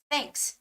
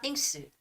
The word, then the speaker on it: thanks: a part right th so you say thanks not think suit or a thing suit you have to say thanks all right so I'm